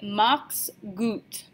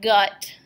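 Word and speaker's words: mach's gut: that we can say mocks goot mocks goot that's not gut I know it looks like good but that's not how we pounce are you it's goot mocks goot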